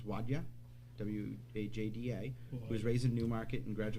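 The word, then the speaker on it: Wajda: the council know yes um henry wilhelm after pronounces wadia w-a-j-d-a who was raised in newmarket and graduated new york high school in 1952.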